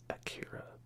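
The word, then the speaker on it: Akira: you guys check out Aikido or akhira if you prefer I go by like the original pronunciation would be which is Japanese but before you hear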